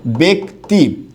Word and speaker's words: ব্যক্তি: হবে কেমন এরকম এটা কিন্তু ব্যক্তি না এটার উচ্চারণটা কি হবে ব্যক্তি এরকম হবে ঠিক আছে আমি এরকম শব্দ লিখলাম